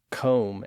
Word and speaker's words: comb: We also have silent B's at the end of some words from old English like dumb, lamb, climb, comb, and womb.